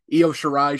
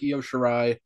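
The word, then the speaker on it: Io Shirai: rolls off the tongue it sounds like yo shirai i mean genius of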